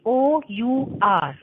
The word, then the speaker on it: hour: in this particular case, HOUR, okay? Here H is silent, Okay, ma'am. okay? So we will pronounce it as hour, okay?